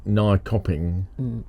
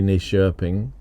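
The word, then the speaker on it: Nyköping: The K is pronounced with a sh. Yeah. Um so it's uh we would say n coping but the locals say nish sherping.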